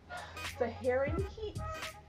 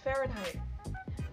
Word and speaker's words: Fahrenheit: figure out this name I kept saying the herring herring heat but it's Fahrenheit anyways I'm not gonna